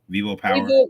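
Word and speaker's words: VivoPower: with Ripple um with V how is this pronounced? Vivo Vivo Power. Vivo Vivo Power. Vivo Power.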